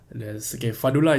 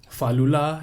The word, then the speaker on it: Fadlullah: So there's Fadlullah is the normal one. Yeah. Fadlullah is another one.